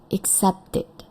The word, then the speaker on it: accepted: Ya, ini sound-nya adalah t. Maka ID-nya kita baca accepted.